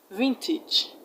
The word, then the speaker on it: vintage: The AGE in advantage is not pronounced as age, it's pronounced age. Advantage, advantage. Vintage, footage.